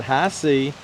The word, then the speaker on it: HISEA: the product for you these are high sea boots and yes that's the way you pronounce that high sea they're boots that will